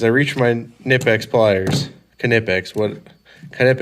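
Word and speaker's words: Knipex: backs here because I reached my nipex pliers knippex what kind of X all right I said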